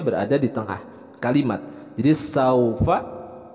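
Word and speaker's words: سوف: Jadi saufa dibacanya pendek karena ini adalah haraf lin. Saufa. Nah, untuk pelafalan huruf fa juga jangan sampai tertukar, bukan saupa, tapi yang tepat adalah saufa.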